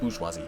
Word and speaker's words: bourgeoisie: We become nothing but cogs in a machine that exists solely for the industrialists, the bourgeoisie, and the wings. The bourgeoisie, pardon, there's no R pronounced.